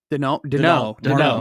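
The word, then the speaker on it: Daigneault: Denault.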